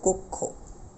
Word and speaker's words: কক্ষ: কিরকম এই যে তখন ওকার ব্যবহার করবে যে কক্ষ আমাদের উচ্চারণটা তখন এরকম হয়ে যাবে কক্ষ একই রকম